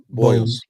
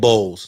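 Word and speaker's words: Murray-Boyles: Yes, it's Boyles. Like some eggs.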